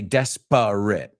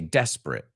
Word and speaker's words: desperate: man what are you desperate we don't say desperate we say desperate that's desperate what are you desperate man you